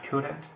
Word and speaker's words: could: contraída, más frecuente, I couldn't, you couldn't, he couldn't, she couldn't. Vemos que la pronunciación de este verbo es could, la L no la vamos a pronunciar.